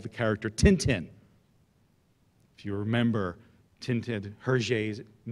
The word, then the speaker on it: Tintin: And in the West, we called him Tintin. But she said, no, you dumb Americans never say it right. It's Tintin.